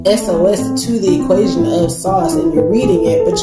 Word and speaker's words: SOS: she goes by sauce it was on the radio she goes by sauce but it's spelled SOS so the spiritual part